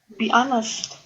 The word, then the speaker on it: honest: be careful hatihatilah be honest an itu apa jujur ya Ca saya jujurlah nah ini dibacanya h-nya jangan dibaca ya jadi be honestu jujurlah